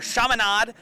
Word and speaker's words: Chaminade: Chaminade. I was getting the lay of the land on how to pronounce them last night.